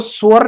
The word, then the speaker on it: sure: तो इसको श्योर नहीं करना चाहिए, सूरे नहीं करना है, श्योर।